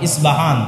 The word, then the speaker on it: ইসপাহান: ইস্পাহান থেকে বের হবে ইস্পাহান হচ্ছে ইরানের নগরী আজও ইরানের মধ্যে ইসপাহান নামে সেই নগরী আছে আমরা প উচ্চারণ করি ইসপাহান আরবিতে এটা উচ্চারণ হয় না আরবিতে হয় আল আসবাহান বা উচ্চারণ হয় ইসবাহান আসবা সেখান থেকে 70